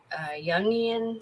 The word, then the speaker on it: Jungian: When you get into Jungian psychology, I think is how it's pronounced.